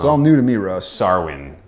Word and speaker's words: Samhain: Sarwin. I guess is how it's pronounced, but it is spelled Sam Hain.